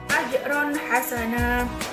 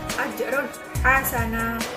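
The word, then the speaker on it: أجرا حسنا: Yang selanjutnya adalah ajron hasana, ada fathatin bertemu dengan ha, itu ha merupakan huruf dari idhar halqi yang mana dibacanya adalah jelas, yang dikeluarkan dari tenggorokan. Ajrun hasana.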